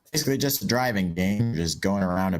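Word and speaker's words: Drivin': gave us is our driving on the second Japan hey hey hey hey hey did you pronounce the non-existent G Oh drivin yeah that's better yeah it's developed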